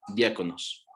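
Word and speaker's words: διάκονος: Y de aquí se deriva otra palabra, que esta seguramente ya lo hemos escuchado, que es diáconos, igual con K, y esa lleva acento en la A, diáconos, que significa ayudante, servidor, siervo o sirviente.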